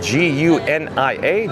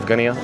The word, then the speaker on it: Gunia: But Dave, D-A-V-E, last name G-U-N-I-A, Dave Gunia, I believe the way you pronounce it.